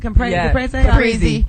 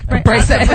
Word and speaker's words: Caprese: Caprese? Caprese. No, I'm Italian, bitches. That's how you're supposed to say it. Whatever. Americans say Caprese.